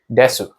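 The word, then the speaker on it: です: paper, it will say desu. So D-E-S-U, desu. But when you actually hear them say IRL, they just say des. It's like D-E-S, des.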